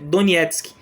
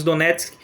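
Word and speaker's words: Донецьк: usa um creme anos a pronúncia certa em ucraniano é Donetsk nós falamos do netos podemos falar danielski tranquilamente e também no Husky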